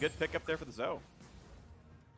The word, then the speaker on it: Zoe: Good pick up there for the Zoe. That's how I pronounce Zoe. I just don't say the E.